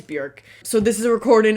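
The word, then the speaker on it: Björk: I looked it up it's not Bjork like I always want to say it it is Burke so this is a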